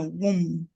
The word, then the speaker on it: womb: Esse B aqui no final, ele já é mudo. É uma característica da palavra, tá? Esse B já é mudo por natureza. Tem várias palavras que o B é mudo junto com o M.